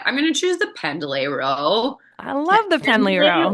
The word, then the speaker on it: Pendlay: You call Oh, it pendlay or pendlay? I say Pendlay, like just kind of based on Okay, how it's spelled.